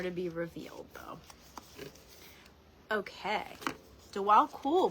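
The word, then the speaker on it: Djwhal Khul: Dwal Kul, pronounced Dwal Kul, also known as the Tibetan, is a Tibetan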